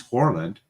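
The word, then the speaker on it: Haaland: So, who is Horland? That's how you pronounce it in Norwegian.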